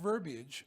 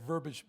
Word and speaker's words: verbiage: why because people pronounce it verbiage but it's pronounced verbiage and this is just like something that occurred to me years ago I hear verb and I Ed that I used said verbage many times over and I look at the